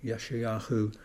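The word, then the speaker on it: ישעיהו: Yeshayahu is the sort of the Hebrew pronunciation.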